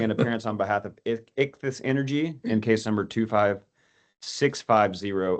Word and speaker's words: Ichthys: Ben Holiday, entering an appearance on behalf of Ichthys Energy in case number 25650 only.